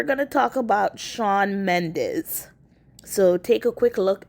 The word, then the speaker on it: Mendes: but now with Sean Mendes uh Mendes sorry and it's spelled me n d s not Z I've always wondered what